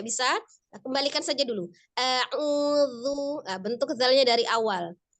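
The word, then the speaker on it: أعوذ: Yang benar huruf zal. Bukan huruf zai, bukan juga huruf bod.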